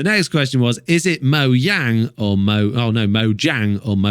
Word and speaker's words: Mojang: creators went no no this is mo yang not mo jang we're like oh right